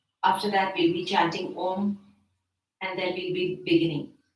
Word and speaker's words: Om: Om is divided into 3 syllables. A, U, and Ma.